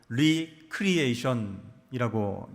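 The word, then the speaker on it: recreation: 놀이 이것을 뭐라고 부르죠 레크레이션 이렇게 부릅니다 원래 발음은 리 크리에이션이라고 얘기하죠리는 다시 creation은 창조 그러니까 리크리에이션은 뭐예요 재창조라는 뜻입니다 그러니까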